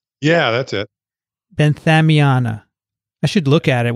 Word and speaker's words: benthamiana: the koshiyama no koshiyana nicotiana yeah that's it benthamiana i should look at it while i'm trying